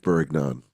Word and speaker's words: bourguignon: Beef bourguignon.